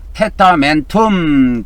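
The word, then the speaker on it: testamentum: 그다음에 라틴어로는 테타멘텀 그렇게 발음하면 됩니다.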